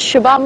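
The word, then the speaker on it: Xabam: and interestingly enough shabam spelled with an X in the local languages the X sound is a sh sound this is shabam Road and she loves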